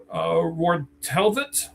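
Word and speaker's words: Rortvedt: The guy they keep getting over and over and over again for some reason, they got Ben Wartelvit, I believe is how you say his last name, the catcher.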